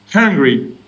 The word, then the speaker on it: hungry: so it's angry and hungry is that right yes absolutely perfect so a lot of french speakers struggle with the h sound if we're feeling angry